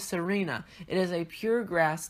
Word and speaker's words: Tsareena: This is Tsareena. Now I'm guessing it's pronounced Tsareena because there's a T and then Tsareena, and usually the T before an S is silent, so I'm going with Tsareena.